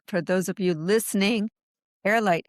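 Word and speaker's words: Heirlight: those of you listening, airlight is spelled H E I R L I G H. So, it's air as in they are the heir to your estate.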